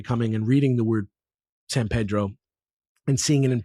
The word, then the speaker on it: San Pedro: LA that it's that's not really what it would sound like, but it's LA. It's like if you ask people about it, there's definitely like grounds for like maybe you should just pronounce it the Spanish way, right?